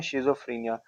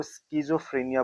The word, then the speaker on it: schizophrenia: मैं बोल रहा हूं शिजोफ्रेनिया कुछ लोग इसको स्किजोफ्रेनिया बोलते हैं तो आपके प्रोनाउंसिएशन के ऊपर डिपेंड है ये जो वर्ड है